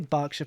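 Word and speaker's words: Berkshire: can then get the Burkshire Palace I should say bsha Palace really that's how it's pronounced if you're from the United Kingdom it should be bsha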